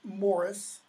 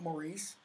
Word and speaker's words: Maurice: to Maurice probably proud pronounced Morris not Maurice Maurice is an American pronunciation and stop trembling like